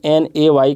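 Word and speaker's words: neigh: इसका pronunciation NAY कर सकते हैं आप, ने, मतलब ऐसा पढ़ा जा सकता है, ये ने बोलेंगे इसको, ने।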